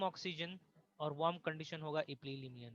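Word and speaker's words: epilimnion: हाँ, maximum oxygen और warm condition होगा इपिलिमनियन में।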